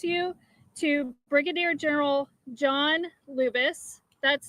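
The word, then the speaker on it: Lubas: In just a moment, I'm going to introduce you to Brigadier General John Lubis. That's spelled J-O-H-N, Lubis, L-U-B-A-S.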